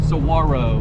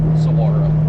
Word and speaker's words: Saguaro: big arms called again Saro Saro it's spelled s g the g is silent u a r o Saro looks like Saguaro